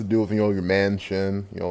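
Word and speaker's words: Manchin: Mansion guys I see I didn't know that's who you pronounced his name well man chin I guess it maybe because I never read it out but Mansion like a mansion you live in it could be also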